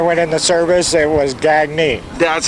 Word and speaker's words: Gagne: Your name is spelled G-A-G-N-E. Right. How do you pronounce it? Gagne. Gagne, the French.